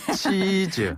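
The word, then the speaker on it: 妻子: 치즈라고 해요. 치즈요? 치즈. 네, 먹는 치즈랑 발음이 똑같아요. 사진 찍을 때 치즈 하듯이.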